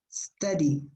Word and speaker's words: study: Study. Cuando la U, la letra U está entre dos consonantes, normalmente se pronuncia como una A corta, study.